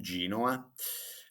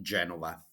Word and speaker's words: Genova: now let's start from Genoa now I will call it Genova because Genova is the Italian name and Genoa Genoa is the English name so for me